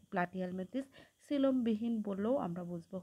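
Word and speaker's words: Platyhelminthes: তো ফাইলাম অলরেডি আমরা শিখে ফেললাম যে ফাইলাম হচ্ছে প্লাটি হেলমেন্থেস। উচ্চারণটা সঠিক করবা। তাহলে তোমার বানানটা ভুল হবে না। প্রথমে দেখো প্লা টি হেলমেন্থেস প্লাটিহেলমেন্থেস তাহলে তোমার বানান একদম সঠিক হবে।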